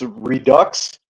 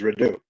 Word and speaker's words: Redux: So English, it's redux, but the French pronunciation is redo.